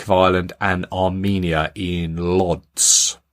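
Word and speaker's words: Łódź: Ireland and Armenia in Lots I think that's how you pronounce it l-o-d-z North Macedonia interesting one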